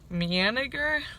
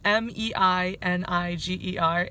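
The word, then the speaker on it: Meininger: stay in a hostel manager I I know I butchered that but it's Mei and I ger and it is so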